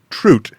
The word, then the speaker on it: trout: about cooking trout, or as his Canadian friend, Kevin Kossowan, pronounces it, trout.